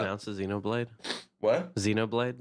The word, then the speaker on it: Xenoblade: you know blade what Xenoblade that's how you pronounce it Xenoblade yep how did you